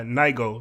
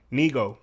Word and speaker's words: Nigo: y'all forgive me but I believe it's pronounced um uh Nigo like Neo yes Neo it's pronounced Neo I believe so hopefully I'm saying that correctly and if I'm not